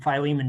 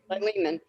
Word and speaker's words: Philemon: more because Paul did all these things and Philemon did nothing, right.